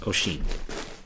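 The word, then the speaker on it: Oisin: o i s i n but um it's pronounced oen so next up this is going to be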